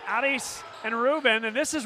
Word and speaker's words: Aris: So, how good is it to see Aris Rodriguez come off the bench? And the name spelled A-R-I-S. And Rick Perez was good enough to tell us it's pronounced Aris.